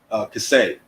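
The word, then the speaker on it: כסה: Kaseh. K-E-S-E-H. Like I said, might have a different pronunciation based on how you pronounce the Syrian Hebrew or the Hebrew period.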